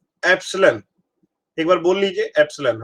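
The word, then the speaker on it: epsilon: इसको प्रोनाउंस करते हैं एप्सिलॉन।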